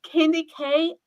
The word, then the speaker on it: KendyK: it's candy K all day.